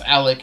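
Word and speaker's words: Allich: If I'm going to pronounce Alec, A-L-L-I-C-H, with a K ending sound, why am I spelling Nick with a K?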